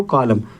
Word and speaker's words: column: क्या दिया कॉलम COLUMN, जब हमारा एन से पहले ठीक है एम आता है, क्या आता है एम, तो एन जो हमारा होगा वो क्या हो जाएगा साइलेंट हो जाएगा, साइलेंट हो जाता है। तो इसको क्या पढ़ते हैं कॉलम, इसको क्या पढ़ेंगे सॉलम, एन की आवाज़ नहीं निकली, ठीक है।